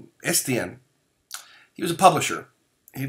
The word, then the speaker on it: Estienne: which I want to say it correctly, it's Etienne. Estienne.